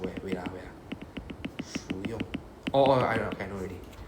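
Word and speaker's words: 服用: It's called 服用. Right? Literally the same Chinese characters, but it's pronounced as 服用.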